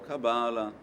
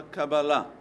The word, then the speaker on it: Kabbalah: seja acaba lá o cabala na língua hebraica você fala acaba lá mas se alguém fala a Cabala tanto faz não eu perdi o